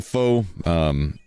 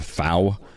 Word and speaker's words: Faux: I'm Faux, also known as, or if you're Soda, Fow. I don't know how he got out of that. I think people told Soda the X is silent, so he's literally trying to pronounce this. So he thinks That's not how that works.